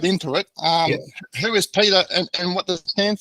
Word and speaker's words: Peter: from the Netherlands and in the Netherlands you pronounce my name is Peter so it's Peter D um so I came